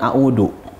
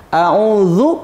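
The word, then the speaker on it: أعوذ: Tahsin tajweed ul Quran a'udzu pakai huruf dza yang ada titiknya dak seperti huruf C kemudian dibalikkan ada titiknya itu pelafalannya Thor full license dikenakan ditempelkan ke gigi seri atas bagian dalam ada menyebutkan juga ujung lidah dikeluarkan sedikit maka keluarlah bunyi-bunyian di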